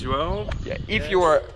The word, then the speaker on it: João: My name is João. I challenge you to pronounce João.